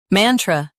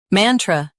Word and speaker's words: mantra: Both US and UK have the same pronunciation of this word. Mantra. Now read the syllables shown on the screen naturally. Man. Tr. Mantra. Stress man and keep tr soft.